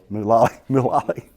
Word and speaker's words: Mulally: But he saw in this gentleman, Mulally. Did I say it right? Mulally. Okay. Thank you, Bennett. A pronunciation expert.